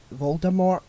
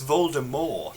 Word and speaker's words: Voldemort: See, when Harry's like asleep and he's hearing all these visions from a Voldemort. I'm pronouncing the T.